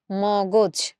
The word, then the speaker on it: মগজ: এই জন্য আমরা এই মটাকে ম রেখে পরের গটাকে ওকার করে দিয়ে আমরা এই উচ্চারণটা করছি হচ্ছে মগজ।